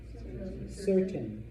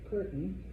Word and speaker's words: certain: Certain. Because before an E or an I, we have what's called a soft C. All right. A soft C sounds like an S. Certain. Okay. It's not curtain.